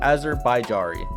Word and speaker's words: Azerbaijani: Azerbaijari. That is how you say that.